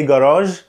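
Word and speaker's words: garage: اللي اصلها اصلا فرنش، زي جراج جراج جراج، هي الكلمه عشان هي مش انجليش فبنطقها كده، ودي اول ملحوظه.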